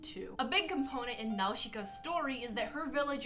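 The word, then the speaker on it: Nausicaä: So anyway, it's pronounced Nausicaa in the Valley of the Wind, not Nausicaa like all you normie Americans call it.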